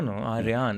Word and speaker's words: Aryaan: That's for the longest Aryan. time. You're going to start a race war now. No, Aryaan.